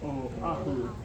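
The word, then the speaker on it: Oʻahu: O ahu.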